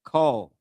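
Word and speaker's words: קל: Not cow like co o w but cow like call like k a l.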